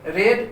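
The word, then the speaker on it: read: है पढ़ना ठीक है तो रीड रेड रेड अर्थात री का तीसरा फॉर्म रेड होता है यहां पर आपको ध्यान रखना है रीड का केवल प्रनंसीएशन बदलते है स्पेलिंग से ही राहत है ठीक है हम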